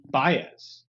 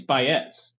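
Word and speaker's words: Baez: this I'm reminded that she pronounced her name Joan bz and I always think it's bz like I don't know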